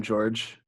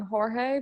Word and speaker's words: Jorge: ] and then like I just want to correct you I believe it is blame it on Jorge because it's spelled with AJ I know but here's